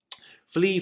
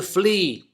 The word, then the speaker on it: flee: Be careful with the pronunciation. Way to remember it, by the way, yes, the animal that jumps on your dog and occasionally bites the bottom of your legs is a flea. Same pronunciation.